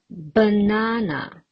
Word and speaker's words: banana: Banana. How many syllables are there? Ba-na-na. There are 3 syllables. And what about the stress mark? Where do I put it? You are right. Banana. It falls on the second syllable.